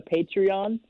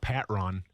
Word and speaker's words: Patreon: It's good to know it's called Patreon. I used to call it Patron, and because I used to watch this wrestling show that had Patron, but it's actually Patreon.